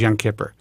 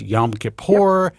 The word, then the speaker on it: Yom Kippur: and uh you know i didn't know how to pronounce it anymore because i was a kid who's young kipper that's it that's how he did in new york and now it's yom kippur it's a whole thing